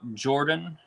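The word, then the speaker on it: Jorphdan: lore stuff check out jordan um it's spelled j-o-r-p-h-d-a-n his uh tag line is hi i'm jordan the ph is silent he he has a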